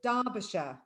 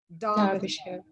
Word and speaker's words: Derbyshire: Now, one thing before you begin, because some people are asking in the chat box, this word is Derbyshire. Derbyshire.